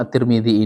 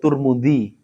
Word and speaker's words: Tirmidzi: Kemudian terkait dengan cara bacanya kan ada yang ada yang nyebut Turmudzi, ada yang menyebut Tirmidzi. Nah, itu yang betul. Yang mana? Dua-duanya betul. Jadi, bisa dibaca at-Tirmidzi, bisa dibaca at-Tarmidzi, bisa dibaca Atturmudzi.